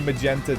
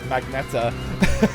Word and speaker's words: magenta: bit of dyslexia because I used to pronounce the word magneta, and then like I think somebody corrected me at work like last year. I was like, oh yeah, magenta, you're right.